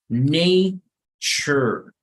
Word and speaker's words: nature: En esta palabra no vamos a leer na, sino se pronuncia como ne. The second thing is that here the T and the U sounds more like a ch, right?